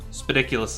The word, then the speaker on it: Spidicules: right so speediculous spidicules spidiculous is how it is pronounced well i mean that